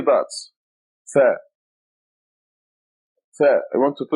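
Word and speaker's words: ث: Tha. Tha. I want you to look at me now. Tha. You stick your tongue out. Tha. TH as in think, through, TH.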